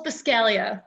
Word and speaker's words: Buscaglia: Well, it's Buscaglia. The G is silent. Buscaglia.